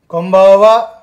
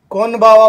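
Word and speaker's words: こんばんは: यहाँ पे N है, लेकिन इसका जो उच्चारण निकल रहा है वो माँ से निकला है, कोम्बावा। कोनबावा मत बोलना कभी भी, ये ध्यान रखना, कोनबावा मत बोलना, कोम्बावा।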